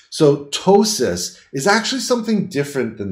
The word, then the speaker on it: ptosis: for is something called ptosis the P is silent so ptosis is actually something different